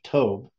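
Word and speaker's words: Tob: as tov uh because the bet at the end is pronounced as a v sound and it means good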